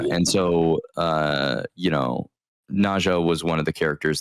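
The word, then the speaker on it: Neith: Yeah, it's weird because it it looks like Nea or you know, Na or something, but it's actually technically pronounced Neha.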